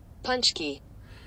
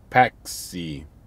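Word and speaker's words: pączki: from my truck so here is how you pronounce punch key it's punch key which i always thought it was paxy i don't know it's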